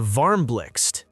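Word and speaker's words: Varmblixt: The Varmlix, yes, that's how you pronounce it, is IKEA's donut-shaped lamp designed in collaboration with Dutch designer Sbine Marcelis.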